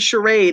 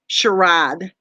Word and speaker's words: charade: she's like fashion ad she wanted to use the word charade and this is what she said sherad well I'm sorry if